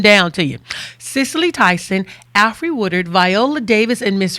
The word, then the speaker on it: Alfre: She had never thought about it, but the root of it appears to be all free, Allfree. Oh. And she pronounced it out aloud, Alfre, Alfre.